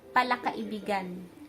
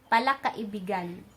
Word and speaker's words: palakaibigan: Kaibigan means friend, but to say someone is friendly, palakaibigan. Notice that the pronunciation is different. Palakaibigan, kaibigan, palakaibigan. Kumpara sa pronunciation ng kaibigan, kaibigan, friend.